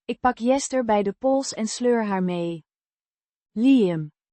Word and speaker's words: pols: Pols. With a short O. sounds similar to the O in hot.